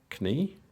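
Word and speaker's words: Kny: so these are by Ludovic knee or knee I think it is I don't think you pronounce the k and um yeah so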